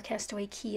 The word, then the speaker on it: Castaway Cay: it does work so I spell out Castaway K or Castaway key as it's pronounced and that will be